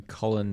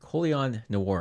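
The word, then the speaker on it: Colion Noir: guys aren't subscribed to colin no cullen coleon noir i think is how you say it yeah uh he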